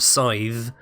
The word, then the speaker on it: scythe: And then we have the Scythe, and I'd like to point out that the TH at the end of Scythe is pronounced with a tone rather than just th. It's th. Scythe.